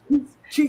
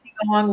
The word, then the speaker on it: Qigong: And we're going to the Qigong retreat. We're doing it. That's it. Did I say it right? Qigong.